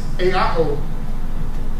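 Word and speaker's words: ἐάω: The Greek word is eao. 3 vowels. Eao.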